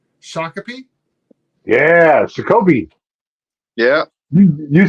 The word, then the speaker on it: Shakopee: Yeah, Shakopee.